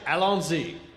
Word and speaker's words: Allons-y: Allons-y. Allons-y. Allons? So there's Al on Z, is that right? Yes, they go with that.